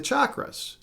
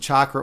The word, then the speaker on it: chakra: Uh reclaiming mind, body, and spirit through the chakras. And by the way, you can pronounce it chakra or chakra.